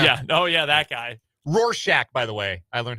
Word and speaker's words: Rorschach: Rorschach, by the way. I learned how to pronounce it.